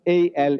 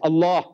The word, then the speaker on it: Allah: to pronounce our language it is not Al it's Allah try try try Allah